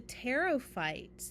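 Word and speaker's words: pteridophytes: Our second plant group, the teropites. The the P is silent, so we call them the teropy.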